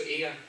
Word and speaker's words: Eadha: Eadha Enterprises. So Eadha is the old Gaelic word for Aspen, hence the challenge pronouncing it. So it's a silent D.